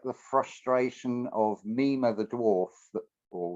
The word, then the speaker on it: Mime: like the frustration of Nema the dwarf or which looks like the way it's spelled as mine m i my m e um in uh in